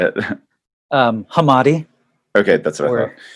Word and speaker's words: Hamade: Oh yeah, I realize I don't want to say your last name wrong now. Can I say it? Yeah, you say it. Hamade.